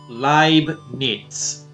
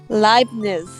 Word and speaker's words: Leibniz: Leibniz. Leibniz. Yeah. Nix? Niz? It's like German, so like think of the word live, but replace the V with a B, and just imagine a T before the Z.